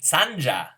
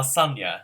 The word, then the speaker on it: Sanja: Sanja Sanja, not Sonia.